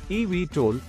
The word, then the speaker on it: eVTOL: times a week an evtol pronounced EV toll is an electric vertical